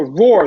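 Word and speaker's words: Roor: But so Roar, the reason why I'm saying Roar is spelled R-O-O-R. So maybe if you're looking, you're just like R-O-A-R, Roar. No, it's actually R-O-O-R. When I say Roar, some people get confused by that.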